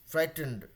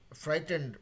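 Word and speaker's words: frightened: यहां पे थोड़ा सा अंग्रेज लोग जरा मसाला दाल देते हैं फ्राइटनेड फ्राइटंड फ्राइटंड मतलब फ्राइड के फ्राइड तक बोलना है उसके धन दे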